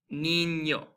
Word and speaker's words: niño: So like a NY sound, kind of like in the word canyon. So we have words like niño, piña, right?